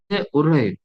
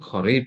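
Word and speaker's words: قريب: Barkab el metro Mahatta Arif, Uraib, bacanya Uraib. Muhatta uraib min hina. Harusnya qorib gitu ya. Tapi saya pernah dengar tuh bacanya tuh uraib, uraib, uraib min hina. Gitu. Uraib tuh qorib.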